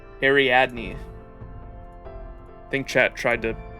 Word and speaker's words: Ariadne: Ariadne. Ariadne. I think chat tried to help me pronounce that last time.